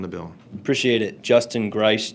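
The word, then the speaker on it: Greiss: Um, pronounce it correctly because I may have butchered it butchered it. And who you represent and your position on the bill. Appreciate it. Justin Grace, G R E I SS.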